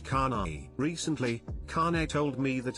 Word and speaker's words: Kane: Her name is Kane, pronounced Kanai.